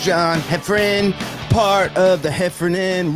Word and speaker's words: Heffron: One is pronounced Heffron, but spelled Heffron. The other one is Reep, spelled Reep. We got a big show.